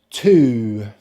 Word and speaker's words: two: So to say number two, we need to start with our lips in the position for the long vowel sound, and then we touch the roof of our mouth with the tongue, and then follow into the long vowel sound, like so: two two two. This is also a homophone both for the preposition 'to' as well as the adverb 'too'.